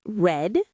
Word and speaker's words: read: Notice that for the past tense, I say read, spelled the same, but pronounced red and watched.